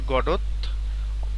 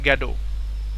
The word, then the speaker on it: Godot: দেখো, আজকের যে রাইটিং সেটা হচ্ছে ওয়েটিং ফর গডত। এইটার সঠিক উচ্চারণ হচ্ছে গ্যাডো। Waiting for গ্যাডো। তো আমরা এই যে গডত এটা বলি, কারণ হচ্ছে বানানটা যাতে ঠিক থাকে।